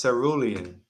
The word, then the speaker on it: cerulean: right let's say right indeed indeed cerulean it's pronounced cerulean see melanie gonna have to join in i